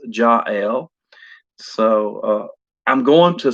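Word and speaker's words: Jael: name pronounced jail like rhymes with j-a-i-l or rhymes with gayle g g-a-i-l or i've heard her name pronounced ja l so uh i'm going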